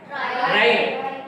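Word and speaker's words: write: जा रहे हैं कि इसको हम क्या पढ़ते हैं, राइट, लेकिन लिखते किससे हैं, W से। W का उच्चारण यहाँ नहीं हो रहा है, ठीक।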